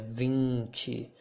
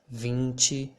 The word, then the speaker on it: vinte: and the same here vinci think about the way you pronounce sing or for example any any verb on the continuous form would sound like this vinci vinci cinque and